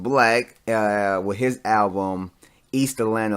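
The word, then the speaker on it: 6LACK: you pronounce it like six lakh but it's pronounced black with his album Easter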